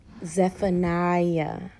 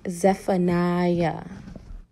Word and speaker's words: Zephaniah: Today we will be reading from the book of Zephaniah. Excuse me, let me correct my pronunciation. It is Zephaniah. Don't drag me, guys. Zephaniah.